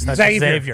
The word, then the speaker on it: Xavier: Xavier worthy Xavier worthy are we supposed to pronounce the x or not I'm not 100% sure when we were calling this college game I believe they said ex Xavier worthy okay like X-Men's sick so I'm happy to